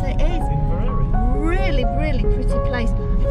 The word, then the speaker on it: Inveraray: Is that how you pronounce it? It is. Inveraray.